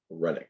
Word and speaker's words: phrenic: see that coming up shortly the phrenic nerve spelled with a ph renick p-h-r-e-n-i-c the phrenic nerve that is what tells